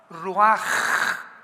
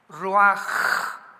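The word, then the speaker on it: ruach: que significa espíritu y se pronuncia la ch en el hebreo como j ruaj ruaj como J raj kados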